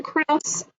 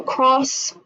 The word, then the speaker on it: Krebs: say what's my name my name is pronounced Krebs Siri says cross or calls me Lauren